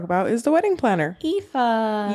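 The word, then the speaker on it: Aoife: we can talk about is the wedding planner EA EA I didn't know that's how you pronounced it well I listened to the audio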